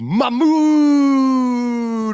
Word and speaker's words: Mahmoud: He is the son of Mahmoud Mamdani. That is accurate cultural pronunciation. Mahmoud.